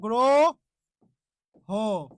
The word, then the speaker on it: গ্রহ: কারণে যে এখানে হ শব্দের শেষে হ থাকলে সেখানকার অ এর উচ্চারণটা কি করতে হবে ও করতে হবে হ থাকলে সেখানকার অ এর উচ্চারণ কি করতে হবে ও করতে হবে ওই জন্য গ্রো হ গ্রহ তাহলে একটু আপনারাই বলুন